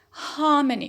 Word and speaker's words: harmony: Harmony, which is the root. So the stress is on ha.